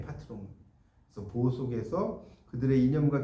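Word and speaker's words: patron: 어쨌든이 파트롱 프랑스식 발음이에요. 파트롱.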